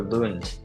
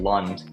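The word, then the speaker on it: Kristoffer Lund: them all pronounce it Lund like he's American. But we got to remember he's from Danish origin, so I just wanted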